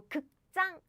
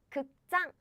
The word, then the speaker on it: 극장: So naturally, the next pronunciation sounds stronger. Air is coming out strongly. Air burst. Just like 짱. So 극장, theater. 극장. Okay?